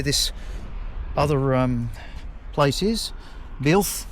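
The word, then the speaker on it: Builth: Bil B U I L T H is how we pronounce it apparently was how we spell it.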